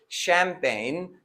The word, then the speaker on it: champagne: pronounced like sha or in the word champagne the ch is pronounced as sho but there are some